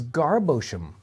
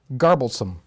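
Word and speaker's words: Garboldisham: This is Garblesome. Garblesome. Garblesome. So it skipped the D. Yeah. And it goes some, not sham. I skipped the wrong one. Or maybe it's, like shum. Yeah. So garblesome, which I don't think I've ever heard of.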